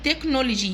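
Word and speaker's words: technology: دقائق مينتس مينتس تكنولوجيا تكنولوجي تكنولوجي في تكنولوجي بنطق السي كي والإتش سايلنت أو بنطق السي إتش مع بعض كده زي حرف الكي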